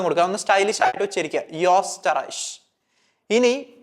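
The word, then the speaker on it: Österreich: അപ്പൊ ഇത് സാധാരണ വായിക്കുന്നത് ഓസ്റ്ററൈസ് എന്നാണ് വായിക്കുക ഓസ്റ്ററൈസ് ഇനി എന്താണ് ഡിഫറൻസ് എന്നുള്ളത് നിങ്ങൾ ശ്രദ്ധിക്കുക ഓ ഉംലാവിലോട്ട് മാറുന്ന സമയത്ത് ഞാൻ അത് വായിക്കുന്നത് യോസ്റ്ററൈഷ് യോസ്റ്ററൈഷ് ഓസ്റ്ററൈഷ് യോസ്റ്ററൈഷ് സോ ഓ വരുന്ന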